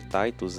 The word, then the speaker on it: Titus: Escudeiro do cavaleiro Titos eu sei que eu falei Titos antes que é a pronúncia que eles usam na série Mas se for falar como Tá Escrito Tá escrito literalmente Titus mas Titus é um nome muito